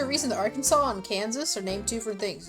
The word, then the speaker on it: Kansas: No, there's actually a reason that Arkansas and Kansas are named two different things. It's because one comes from a French pronunciation while the other comes from the native pronunciation of the word Kansas.